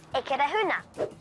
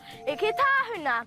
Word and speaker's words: Eketāhuna: Now, you may be mistaken for thinking it's pronounced Eketāhuna. Engari, ko te ingoa tika ko Eketāhuna.